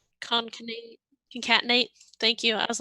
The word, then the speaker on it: concatenate: great question i don't oh it's conkinate or com i don't know how you actually say it but it's concatenate thank you i was